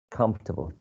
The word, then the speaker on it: comfortable: Yes, comfortable. Sorry, I think there's a misspell. Okay, comfortable. Comfortable. The stress goes on the first syllable. The first one is the most salient one, most prominent.